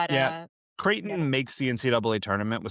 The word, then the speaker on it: Creighton: Um Peter's like Phil's mom who thinks it's pronounced Crichton.